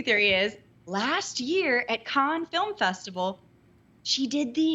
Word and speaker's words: Cannes: Is that how you say it? Cannes? It's Cannes. Be cultured. Cannes. I am very smart. And I know things of the world. It's Cannes, yeah.